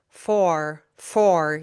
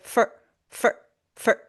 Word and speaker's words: for: So, for example, you're not going to say for for you're not pronouncing the or or vowel in for fully. Uh-uh. You reduce it. So, you just say f f for make it quick for and this is actually